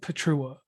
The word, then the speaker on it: Pietrucha: c h a and the c is silent because it's a polish last name and when it's taken